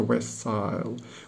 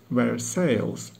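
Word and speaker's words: Versailles: hmm Woodford Reserve first I must go to Westside which as everyone knows is just outside Paris only this word style is pronounced where sales and lies about 30 miles west of Paris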